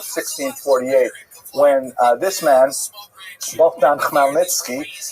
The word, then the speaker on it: Khmelnytsky: when this man, Bogdan Khmelnytsky, sometimes horribly mispronounced Chmielnicki, because that's the Polish spelling with an American pronunciation, but the actual pronunciation is Khmelnytsky, led an uprising of Ukrainian peasants against their Polish overlords.